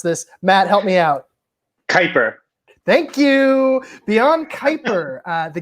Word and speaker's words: Kuiper: oh god i didn't ask you how to pronounce this matt help me out kaiper thank you beyond kuiper the galactic star alliance